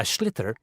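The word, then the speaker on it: sliotar: you have to get this ball called a schlitter that's s-l-i-o-t-a-r so it's not spelled the way it's pronounced you hit it into the net for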